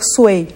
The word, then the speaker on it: Feng Shui: Então, dependendo do lugar, da região da China, a pronúncia é diferente. Né? E o Shui é o som da água, ou Sui, Feng Shui, ou Feng Shui.